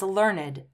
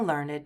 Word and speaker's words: learned: So when these are used as adjectives, we have to pronounce them with id.